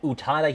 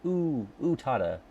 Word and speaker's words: Utada: it's uh and and Utada Hikaru quiz um I had to make sure I was saying it right because Frosty taught me that it's it's too it's like Utada not Utada come on um all